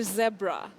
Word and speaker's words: zebra: Is it zebra or zebra? Now that we're talking animals, two pronunciations are accepted for that. That is zebra. Okay. and zebra. Zebra and zebra.